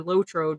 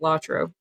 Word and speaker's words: LOTRO: role playing games and lro or lotro depend I pronounce it lro was released in 2007